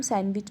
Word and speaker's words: sandwich: D, क्योंकि इसको हम sandwich पढ़ते हैं. which letter is silent in the word psychotherapy?